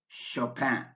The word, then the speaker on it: Chopin: tricky spellings for examples the letters CH in Chopin are pronounced like an SH Chopin but the C in